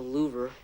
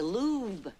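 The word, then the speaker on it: Louvre: them in the hallway not the louver that's pronounced the lube oh well I guess I'm just about the wrong in my history book you're mr.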